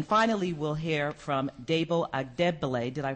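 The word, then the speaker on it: Adegbile: And then finally, we'll hear from Debo Agdebele. Did I pronounce it correctly? Yes. Agdebele, who is the Director of Litigation at the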